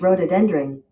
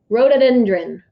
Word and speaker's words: rhododendron: state flower for west virginia i'll let it pronounce it the state flower of west virginia is rhododendron rhododendron it's a mouthful there are only two million